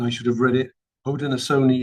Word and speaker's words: Haudenosaunee: Haudenosaunee is pronounced Howden Ohsoni. So, I will next time get it right.